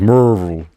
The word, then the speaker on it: Maryville: the Kauffman Camp in Maryville Tennessee pronounced pronounced Morel I went to one